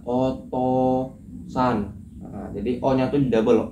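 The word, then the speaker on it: お父さん: Jadi otouusan itu tulisan tulisan Jepangnya kan Otusan. Terus cara bacanya otosan.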